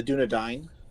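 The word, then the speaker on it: Dúnedain: I am of the I can't pronounce that. of the Dunadine. Dunadine.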